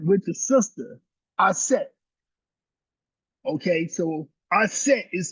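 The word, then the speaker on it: Auset: Okay, so a set is spelled a U s e t and a represents the sacred feminine. A set in many ways is the ultimate female.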